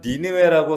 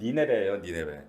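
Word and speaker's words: Nineveh: 티그리스 강 어딘지 지금 이라크 지역에 유프라테스 티그리스 강 사이에 지금 우리가 니느웨라고 성경은 읽지만 정확한 영어식 발음은 니네베예요.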